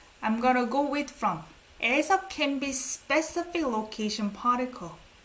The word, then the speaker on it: 의: You don't pronounce it as 의. It's 에.